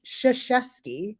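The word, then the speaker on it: Krzyzewski: his name is Mike shashesky but his actual name is spelled with KZ because it's polish everybody says his name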